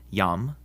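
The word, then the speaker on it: iam: If a word begins with an I and the next letter is a vowel, like in these words, it's actually a consonant and sounds like our Y. So these are pronounced yam, yuno, and yaktatus.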